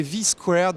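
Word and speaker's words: V²: Un smartphone absolument hallucinant, c'est le Seigus V2, à prononcer V squared, V carré plutôt.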